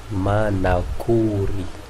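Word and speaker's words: manakory: Pour Diego Ceres, Manakuri. Manakuri. On a déjà appris que ça c'est O. Donc Manakuri. Manakuri, que veut dire ce mot-là?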